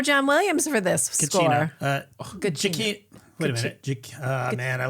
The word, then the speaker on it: Giacchino: Giacchino. Wait a minute. Man, I look this up every time. Giacchino. This guy's been in our lives since Lost. That's true. I think he's Giacchino.